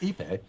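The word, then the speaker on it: ipê: Tony pronounced Ipe, which I said right.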